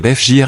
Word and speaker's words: Fiori: Patrick Fiori de son vrai nom Patrick Jean-François Chouchayant mais universellement connu sous son nom d'artiste, Patrick Fiori prononcé FG en français et FJ en Corse est bien plus qu'un chanteur.